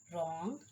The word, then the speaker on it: wrong: The letter W is not pronounced at the beginning of a word when it is before the letter R. Right. See? Rest, wrong, rack, and rap.